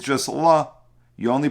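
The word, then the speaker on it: לה: would be pronounced as la, and you pronounce the hey in some way with more of maybe a guttural sound, la.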